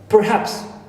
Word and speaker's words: perhaps: case example of uh Perhaps Perhaps the English sometimes when speak it or pronounce it quick quickly they uh say psss and R and the ra clear and the H right it's pups simply right so these are